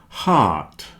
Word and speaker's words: heart: cake break steak cake heart rhymes with art heart heart comfortable vegetables and chocolate